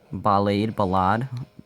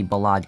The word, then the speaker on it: Ballade: The Ballad Cracker, or Ballade Cracker. I rather say Ballad, because that's kind of how it's... Oh, I died. That's how it's supposed to be pronounced, but Ballade just kind of sounds cooler.